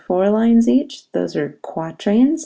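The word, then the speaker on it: quatrain: lines each those are quatran like the word quarter quatran they're in blue quatran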